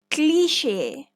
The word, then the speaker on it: cliché: Cliché or cliché.